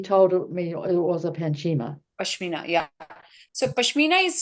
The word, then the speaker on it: Pashmina: said, get out your Pachima. And I'd forgotten I had one. And is that how you spell it? P-A-C-H-I? It should be Pashmina. Pashmina, that's the word.